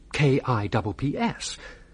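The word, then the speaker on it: Cuyps: Well, you spell it K I P S. Consider this. C U Y P S. C U Y. No, never heard of the fella. It's you. C YS spells Kips.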